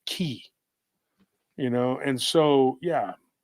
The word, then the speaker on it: ki: like your life force in Japanese it's pronounced key you know and so